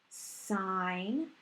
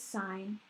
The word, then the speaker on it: sine: your trig functions so sine everyone reads it as sin but you actually pronounce it as sine is going to be